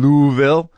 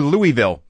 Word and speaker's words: Louisville: at the Improv in louville louville Kentucky 22nd through 25th or Louisville pronounced uh properly but Louisville pronounced if you're a local uh this episode of